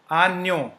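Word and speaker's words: agneau: JN is pronounced as near. Near. Okay. So you do not have to pronounce J, but near, like near. Okay. So near. One example is a new. We break it. I will just break it into. So U is O, as we have learned. So JN is near.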